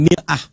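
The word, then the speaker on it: مرآة: Bahkan sering sekali orang Arab punya perumpamaan dengan mir'ah. Ya, kalimatnya sama, cuma cara bacanya beda. Al-mar'atu kal mir'ah. Yang satu pakai fathah, yang satu pakai kasrah.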